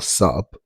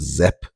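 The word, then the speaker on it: sp: So for those of you who are interested, the word sap or sup, depending on how you feel like pronouncing it, I mean, he's pronouncing it as Zep, but it's not Zep, it's sup.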